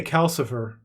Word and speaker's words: Calcifer: the name it is it's Cal yep rhymes with sulfur I want to say Calcifer yes it elect okay